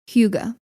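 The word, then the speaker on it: hygge: last few years but it's a Danish word pronounced Huga it's spelled h-y-g-g-e and this word while it didn't originate in the Danish language but in Old Norwegian it meant something like well-being Huga first appeared in Danish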